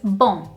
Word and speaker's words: bom: It's a tiny, tiny little difference in the way that you end the pronunciation of the letter M, but it makes a big difference.